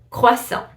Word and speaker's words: croissant: Another one that I hear so often is croissant. Croissant is gonna be croissant. You don't pronounce the T at the end, it's croissant.